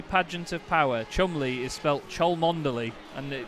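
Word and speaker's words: Cholmondeley: it's worcestershire sauce yes to be fair the chumley pageant of power chumley is felt troll mondaly and apparently it's pronounced chumbly anyway just as a quick update then for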